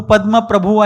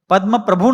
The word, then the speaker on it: पद्म प्रभ: वह बिल्कुल गलत है चंद्र प्रभु नहीं चंद्र प्रभ पद्म प्रभु नहीं पद्म प्रभ चंद्र प्रभु कहेंगे प्रभु यानी मालिक स्वामी जो चंद्र के स्वामी है वो चंद्र प्रभु पद्म प्रभु पद्म यानी कमल जो